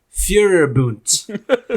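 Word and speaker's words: Führerbunker: okay it's actually um it's a german word okay and it's pronounced fury boont and fury boon basically it's just you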